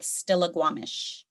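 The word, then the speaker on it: Stillaguamish: some different sound changes the g-rays w and the k-rays w those were interchangeable in some of our words so at the time that it was documented stollegue stolla guam is how you would have heard it stolla guam which makes it easy easier for you to make that connection with stilaguamish still all right the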